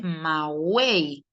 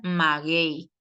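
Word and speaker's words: maguey: Porque la palabra magei no se dice mawey, sino que lo correcto debería ser pronunciar maguei.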